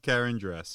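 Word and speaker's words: Karandras: stupid i think anyway karen granddress oh um yeah yeah you were very close john the pronunciation was just slightly off karen dress it must have been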